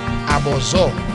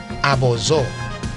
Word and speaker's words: Abòzò: Abòzò. A B O pronounced as O, Z O pronounced as O. Abòzò. Abòzò apaho.